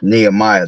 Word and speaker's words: Nehemiah: Nehemiah, that's how you say it.